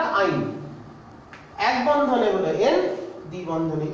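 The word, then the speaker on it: yne: তাহলে এখানে কেউ ল লিখে ফেলো না, এটা শুধু আইন, উচ্চারণটা আইন।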